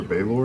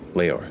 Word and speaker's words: Leore: Leore or Baylor? No, Leore.